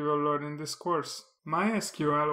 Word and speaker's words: MySQL: MySQL or MySQL is the world's most popular open-source database. Both pronunciations are used in the community. If you ask different people, they will tell you that different versions are the correct one. But I think the official one is the MySQL pronunciation.